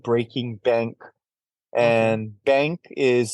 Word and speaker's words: BVNK: The name of their company is called Breaking Bank, Okay. and bank is spelled BVNK.